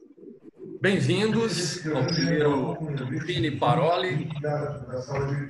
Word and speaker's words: Parole: Então, a gente pronuncia Cine, né? Cine Paroli. Paroli significa palavras em italiano.